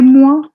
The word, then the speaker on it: mois: Les mois, S is silent, les mois de l'année.